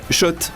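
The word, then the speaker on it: Schott: Oui Shot et pas Scott ça fait des années qu'on prononce mal la marque.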